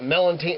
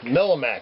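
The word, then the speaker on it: Melmac: It's the old speckled melantine. Is that how do you say that? Millimac. That's what it is.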